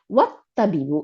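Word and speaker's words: والطبيب: এখন ওয়াও আসছে দেখে এই আটার উচ্চারণ নাই, হামজাতুল ওয়াসলের উচ্চারণ নাই। ওয়াত্তাবিবু এবং দ্য ডক্টর, ডক্টর টি, তাই না?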